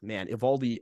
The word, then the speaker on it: Eovaldi: Nate Eovaldi, Eovaldi, I love this guy, and I know I just butchered his last name the first time, so